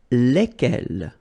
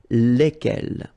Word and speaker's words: lesquels: And it will give you the pronunciation lesquels, all right? So final S is not pronounced.